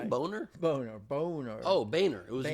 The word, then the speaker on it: Boehner: Do you remember when Boner and Obama had shared a beer? Did you just say Boner? Boner. Oh, Boehner. It's pronounced Boehner, even though it's spelled Boner.